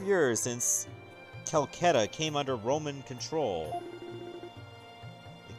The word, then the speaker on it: Celceta: You want to pronounce it as Celceta, like rhyming of Velveeta.